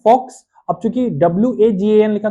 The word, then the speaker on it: Volks: तो चूंकि वी जो होता है, जहां पे आप देख रहे हैं ये फाउ की आवाज निकालता है, इसलिए उसको वोक्स नहीं कहते, उसे फोक्स कहते हैं, क्योंकि जर्मन में